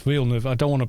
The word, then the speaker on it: Villeneuve: I loved what Villeneuve, it's Villeneuve, I don't want to pronounce the guy's name wrong.